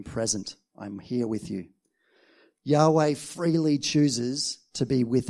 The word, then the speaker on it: Yahweh: who I am in Hebrew that name is pronounced Yahweh it's all a bit of a mystery right